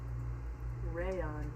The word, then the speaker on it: rayon: yeah, it's spelled like crayon, but without the C. Rayon.